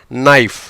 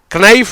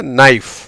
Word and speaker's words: knife: நைஃப். கனைஃப் இல்லைங்க, நைஃப்.